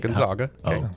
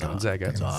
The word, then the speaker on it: Gonzaga: Thank you for pronouncing that correctly. It's not Gonzaga. It's Gonzaga. Gonzaga.